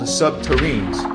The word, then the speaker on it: subterranes: SSP proponents claim that construction involved nuclear-powered tunneling machines called subterranes, rhymes with submarine, capable of melting through rock and soil, creating smooth, glass-like tunnels.